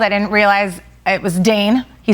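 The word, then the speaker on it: Dain: Did Dane probably spell D-A-I-N? Oh, wow. Very See what you smooth did there? there, Shep, yes. Which rhymes with drain, which is what we fixed in the plumbing world.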